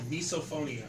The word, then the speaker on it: misophonia: Loud Misophonia chewers. is the term for that, by the way. What Is is that it? right? It's an actual thing. It's an actual thing called misophonia.